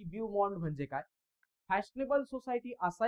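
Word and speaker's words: beau monde: मग इथं बिन नसतं, स्पेलिंग असतं BEAU, ब्यूमॉन्ड, MONDE, ब्यूमॉन्ड.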